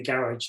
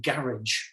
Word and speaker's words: garage: different to the way the pronunciation and the garage garage for you guys and garage yeah garage so we say the French Way Garage and my car with